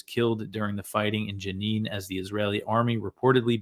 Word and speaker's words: Jenin: on the West Bank City of genin um sorry it's Janine I always pronounce it wrong uh so the Israeli